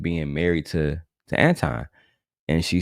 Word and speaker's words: Anton: Girl, you know goddamn well his name is Anton. But if you want to say Antoine, I mean, be my guest. I just think it's crazy. Absolutely crazy that, you can just pronounce that nigga name, girl. It's not that hard.